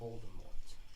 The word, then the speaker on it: Voldemort: It's pronounced Voldemort.